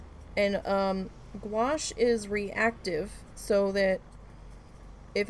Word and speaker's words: gouache: to pronounce that yeah squash like squash but with a G and um gouache is reactive so that